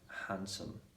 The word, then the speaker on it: handsome: to be silent and also we've got more cases in which that's a d is silent so for example in a word sandwich um handsome yeah when you add